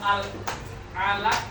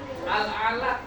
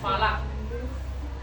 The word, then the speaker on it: Al-Alaq: Kalian tahu surah Al-Alaq enggak? Apa? Bacanya gimana? Al-Alaq, bukan falak. Al-Alaq. Ya, ayat pertama nih.